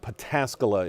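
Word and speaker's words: Pataskala: closed in both directions we're going to go with patasca is the correct pronunciation uh just south of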